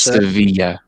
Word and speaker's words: Sevilla: But fun fact, in Spanish, two L's right next to each other is pronounced with a Y kind of sound. Yeah, it's Sevilla.